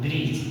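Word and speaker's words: bridge: जैसे एग्जाम्पल में आपको देखिएगा, यहाँ पे ब्रिज का दिया है, ब्रिज डी साइलेंट है क्योंकि यहाँ पे आप क्या दिए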